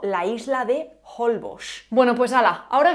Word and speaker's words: Holbox: Hay algunos nombres de lugares en los que la X no está a inicio de palabra y también se pronuncian como J o como sh porque se han fosilizado, como México o la isla de Holbox.